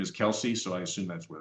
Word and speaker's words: KELS: Apparently, her first name is Kelsey, so I assume that's where that comes from. But I also looked it up and it also appears that it's pronounced Kels, like the book of Kels.